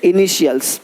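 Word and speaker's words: initials: बन रख देखो तो टी का ध्वनि श होता है। देखो क्या बोलते हैं? इनिशियल्स। अब यहाँ पे टी आई है, इनिशियल्स नहीं बोलते, इनिशियल्स, इनिशियल्स, इनिशियल्स। यानी इसी टी आई को जब टी के बाद आई ए हो, आई ई हो, आई ओ हो, तो उसको श पढ़ते हैं, श।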